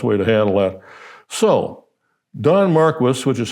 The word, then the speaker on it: Don Marquis: So, Don Marquis, which is how that's pronounced there, whenever a man tells you that he got rich through hard work, ask him who's.